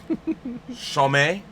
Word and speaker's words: Chomet: Chomet.